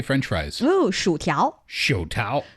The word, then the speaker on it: 薯条: Ooh, 薯条.